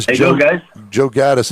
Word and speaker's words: Ghattas: Am I pronouncing your last name right? Yeah, yeah, you nailed it.